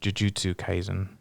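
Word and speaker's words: Jujutsu Kaisen: it's still in english yeah oh that's this jutsy kaizen is how you say it uh jujutsu kaizen a boy fights for the right for the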